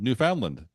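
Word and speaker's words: Newfoundland: years ago or more insisted that all all three syllables sort of had equal emphasis you they were from New Foundland New Foundland and and and some of them also don't like land pronounced l n d it's it's new found land right uh and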